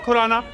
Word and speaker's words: Khurrana: Speaking of Khurrana, it rhymes with the word Purana.